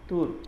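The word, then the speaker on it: Turque: হ্যাঁ, ওকে, তুর্ক, এটা হবে টি ইউ আর সি কিউ ইউ ই, তুর্ক, তুর্কি, তুর্ক, সেম উচ্চারণ।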